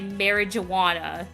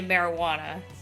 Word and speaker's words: marijuana: So the word marijuana in English is obviously spelled with a J, but it makes a H sound, which is like, you don't say marijuana, right? You say marijuana. It doesn't have like the J noise.